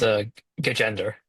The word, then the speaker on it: Gajendar: And I would say Gandhar. Is that right? Or how do you say it? Your last name. It's a gender.